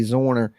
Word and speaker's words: Zwerner: say her last name zwerner zorner okay Abby zorner as you see Warner with a z in front of it zorner okay yeah Abby's a